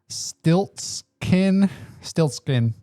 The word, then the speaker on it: Stiltskin: Stiltskin. Yeah, like Yeah. Rumpelstiltskin. Stiltskin Mogul Merchant. 1 white. Okay, ready to read this? Sir, that is Moogle. Mogul. Moogle. Yes. Great Googly Moogly Mogul. Yes. All right. Stiltskin Moogle Merchant.